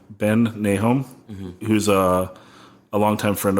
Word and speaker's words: Nahoum: and Ben your last name is hard to pronounce Nahum Ben nee home he was a longtime friend of mine and